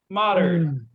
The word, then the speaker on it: Moddard: All right, we got Moddard. Hey, you pronounced it correctly.